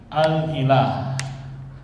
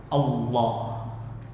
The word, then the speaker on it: Allah: Kemasukan alif lam jadi apa? Alah. Tapi karena sering pengucapan akhirnya dibaca apa? Allah.